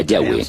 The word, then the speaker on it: Yahweh: De acuerdo con una de las explicaciones, Abraham conocía a Dios por su nombre más íntimo y personal que normalmente se pronuncia Yahweh, Yahé.